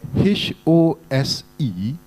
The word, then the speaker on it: hose: students this what about h o s e and h o s t ah some even horse h o s e is pronounced as hose h o s t is pronounced as host I'm not teaching you